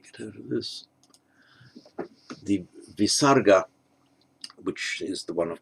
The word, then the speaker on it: visarga: the subdotted h and on its own is pronounced as a kind of rough sound with an echo vowel at the end so namah uh and